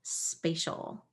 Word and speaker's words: spatial: This time it's a TI that makes a sh sound. And we also have this ol with AL again. But this vowel is different. So I'm going to try an A sound. Sp, A, spa, shol, spatial.